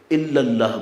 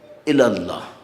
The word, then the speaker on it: الی اللہ: صرف ایک نیت سے نماز الاؤڈ ہے، اور وہ ہے قربتاً الی اللہ، جس کو بعض لوگ غلطی سے الا اللہ بول دیتے ہیں، صحیح تلفظ ہے الی اللہ۔ اب مشکل یہ ہوتی